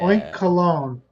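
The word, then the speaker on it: Oinkologne: that the hell dude oink colog like cologne yeah oink cologne like cologne or it could be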